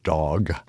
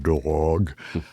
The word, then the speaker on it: Dag: The first name is all right. It's Dag. It's not dog.